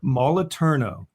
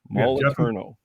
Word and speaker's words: Moliterno: Jeff was slightly mispronounced. No, Moliterno. Moliterno. Moliterno.